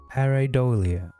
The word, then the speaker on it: pareidolia: Pareidolia. I do not know how I say it. Pareidolia.